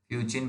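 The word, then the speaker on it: fuchsin: इसके बाद हमने क्या करा, यहाँ पे फ्यूसिन जो है डाल दिया, जिसे हम कार्बोल फ्यूसिन कहते हैं। फ्यूचिन भी बोल सकते हैं, फ्यूसिन भी बोलते हैं, दैट इज डिपेंड कि आप क्या प्रोनाउंसिएट करते हो।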